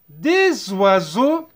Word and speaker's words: des oiseaux: S entre deux voyelles aussi se prononce Z. نديروا la liaison. Des oiseaux. Des oiseaux. X se ne prononce pas. Des oiseaux.